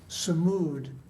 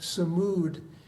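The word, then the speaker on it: sumud: But I learned another word on this particular trip, and that's samud, spell it S-U-M-U-D.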